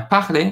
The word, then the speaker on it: parler: But yet again, this is parler, different pronunciation of R.